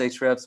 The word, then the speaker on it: Ahrefs: i would also recommend you to look into hrefs it's pronounced hrefs but there's a in front of it it's